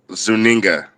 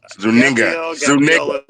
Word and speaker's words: Zuniga: First off, her name is Gabriella and her last name is Zuninga. Zuniga.